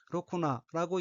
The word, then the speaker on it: ろくな: 셋째 줄 오른쪽 두 번째 어휘는 한자가 푸른덜록 또는 자갈당 락자가 들어있고 일본어로는 로쿠나라고 읽으며 로쿠나는 부정을 수반해서 제대로 된 쓸만한 변변한이라는 뜻의 연체사입니다.